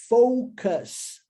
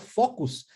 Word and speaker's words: Focus: então Mantenha o foco pronúncia disso aqui poucas poucas nós temos um carro no Brasil é com esse nome né E aí pessoal geralmente fala o Focus mas é óbvio Focus um a pronúncia seguindo o padrão de lixo do português que nós seguimos o padrão linguístico do Inglês ou cara poucas tá E aí é